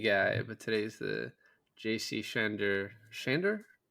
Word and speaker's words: Chandor: He's normally the Denis guy, but today's the JC Shandor. Shandor? How do you Shandor?